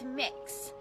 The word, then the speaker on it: Mix: name is mix k it's mix so kind of like cookie mix or mixing bowl that sort of thing that's how it's pronounced my name that